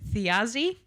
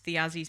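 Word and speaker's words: Thiazi: So, she was the daughter of the giant, I think this is how you pronounce it, Theazi um who was killed by like the Asgardian gods after an incident.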